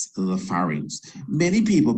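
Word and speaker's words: pharynx: have the fars and that is spelled pH pH gives the F Sound by the way p h a r y n the farings many people call the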